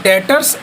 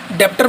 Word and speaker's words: debtors: डेटर्स एंड क्रेडिटर्स, DEBTORS, B silent होता है इसमें। डेटर्स, डेप्टर मत बोलना, डेटर्स एंड क्रेडिटर्स, ये हमारी एक संपत्ति है, लाइक एन एसेट।